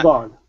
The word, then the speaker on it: shovel: Now, what's important to remember, you guys, the EL ending, the LE ending like this, and the AL ending are not pronounced literal. Okay, so I don't say shovel or sprinkle, okay, or oval. Okay, it's an ul sound.